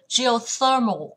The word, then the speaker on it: geothermal: Từ này đọc là G này, O này, thermal, geothermal. Geothermal cũng vào âm tiết thứ 3.